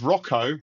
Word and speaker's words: Rocco: the pronunciation gods, and it's Rocco, rhymes with Soko.